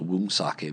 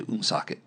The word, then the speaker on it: Woonsocket: It's spelled with a W, though, so it's Woonsocket if you were just going to look at it. But if you're a native, you say Woonsocket.